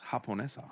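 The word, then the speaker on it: japonesa: In Japanese, in Spanish, it's pronounced Haponessa.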